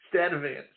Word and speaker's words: Sturtevant: STURTEVANT. So They did not pronounce the R in Sturtevant because it was followed by a T.